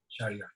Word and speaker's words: Shahryar: Shahryar, yeah.